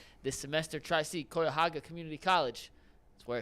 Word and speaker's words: Cuyahoga: on me well I'm already locked in on Cuyahoga it may be Cuyahoga is the correct pronunciation but I'm locked in how did I